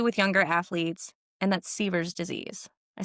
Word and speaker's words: Sever's disease: in gymnastics, especially with younger athletes, and that's Sever's disease.